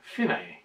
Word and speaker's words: fine: the bit that says fine or as they pronounce it finae which is means end we have the repeat